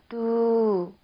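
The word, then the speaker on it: ดู: 그래서 초자음으로 발음이 될 땐 디귿 발음이 나고 있고요. 디귿 발음이 나고 모음은 우 길게 발음이 나죠. 우라고 길게 발음되는 이 친구와 결합을 해서 발음은 두 평성으로 해주시면 돼요. 두라고 발음을 해주시면 됩니다.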